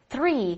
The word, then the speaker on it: three: 有关系的。Three 一定要咬舌，你不咬舌，读成 three 那才难听呢，好吧？再来一次，three， three，四。